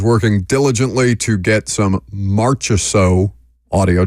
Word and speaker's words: Marchessault: Jackson is working diligently to get some Marchessault audio. Did I pronounce that a different way? You got it. Good. You just sounded it out.